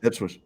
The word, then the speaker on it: Ipswich: This British man living in the coastal town of Ipswich. Am I pronouncing that correct, Phil? That's right. Yeah. Ipswich.